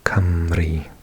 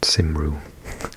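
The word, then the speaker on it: Cymru: So we say camry and it's not simu like I've heard some people pronounce it.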